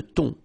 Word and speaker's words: thon: Remember, H here is not pronounced. Le thon.